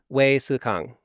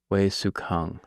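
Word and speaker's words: Wei Hsueh-kang: Generally pronounce that? Wei Sukang. Wei Sukang.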